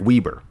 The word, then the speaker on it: Weber: Weber. Because it's spelled Weber, like Weber, but just like the grill.